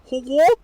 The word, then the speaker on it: Hogwarts: 발음이 호그와트? 이런다? 영국 영어 어렵다. 호그와트? A를 약간 O 발음처럼 한다?